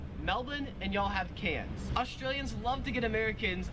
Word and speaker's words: Cairns: and you all have cans australians love to get americans a hard time for mispronouncing these cities we call melbourne melbourne and we call cans cairns because there's like an r there well my question for